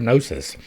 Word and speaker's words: gnosis: The G is a silent letter, as in our word gnosis, and the sound G